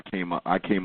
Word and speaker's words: Cambatta: My name is Cam. So Cam rhymes with Bam.